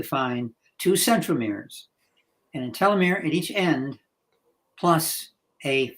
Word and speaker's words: telomere: are similar to a telomere pronounced different ways by the way I like telomere because it's more telescope it's teal which is what we're looking